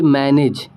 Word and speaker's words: manage: उसके बाद देखिए मैनेज। ठीक है, MANAGE, मैनेज पढ़ेंगे, यहाँ पे जॉ पढ़ेंगे क्योंकि जी के बाद ई आया है।